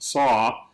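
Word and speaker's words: sough: ocean or the wind in some places it is pronounced saw but some people pronounce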